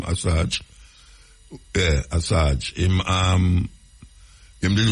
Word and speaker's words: Assange: Julian Assange, I saw him pronounce his name, Assange.